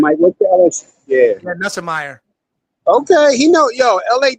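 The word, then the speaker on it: Nussmeier: Nutsmeyer. What's his name, Mike? What's the LSU? Yeah. Nussemeyer.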